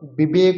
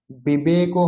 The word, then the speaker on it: বিবেক: ওয়া, বিবেক, বিবেক, বিবেক, বিবেক বললে কিন্তু হবে না, বিবেকও হয় না উচ্চারণ, উচ্চারণ হয় বিবেক, বিবেক।